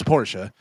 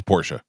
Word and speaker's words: Porsche: But it's Porsche. That's the way they say. Are people just doing it for short like Porsche? No. I think they used to say it wrong and before it was social media and television and all that, but they weren't really advertising on TV, so everybody just was saying it wrong all these years, right?